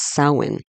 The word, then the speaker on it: Samhain: Celtic festival, end of harvest season, and it's Samhain. So that's how you pronounce it, and that also means Samhain also means November, literally in Gaelic, I believe.